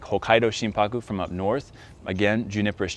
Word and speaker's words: shimpaku: and pronounce the word shimpaku so again if you look at the two components of the word you have shin s-h-i-n and haku which becomes paku when you combine them together now in the japanese